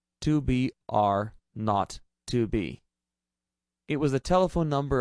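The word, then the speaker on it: 2BR02B: The 0 on the telephone number he pronounced not. The number was 2BR not 2B.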